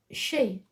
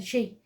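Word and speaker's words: Sidhe: associated with Mounds barrows and Canes but it's pronounced she so we'll say the she were also called the hill folk we folk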